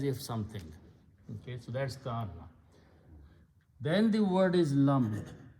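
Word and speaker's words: كأنّ: The combined meaning of this word, it is pronounced as ka'anna.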